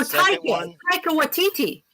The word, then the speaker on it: Taika Waititi: Oh, Taika Waititi.